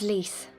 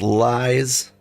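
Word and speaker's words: Lyse: My real name is Lise. Sure it's not pronounced lies.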